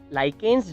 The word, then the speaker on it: lichens: लाइकेन्स, कुछ लोग लिचेंस भी प्रोनाउंस करते हैं।